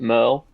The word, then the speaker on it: Merle: I personally pronounce it Merle, but Okay. like Merle. I mean I have gone by Merrill before, so like that also makes sense.